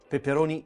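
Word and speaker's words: peperoni: Pepperoni, Italian pepperoni, not pepperoni as the Americans say.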